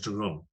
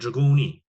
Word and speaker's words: Dragoni: I've always thought his name was Dragone. Always. Until he came on the podcast and I said, how do you say your name? He said Dragoni.